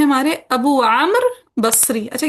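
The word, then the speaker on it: عمرو: सो ये उमर नहीं है, ये उमरो जैसे कुछ लोग बोल देते हैं, उमरो, उमरो नहीं है, ये आमर है। क्या है? आम्र। हाँ जी, वाव साइलेंट हो जाता है, ठीक है, आमर।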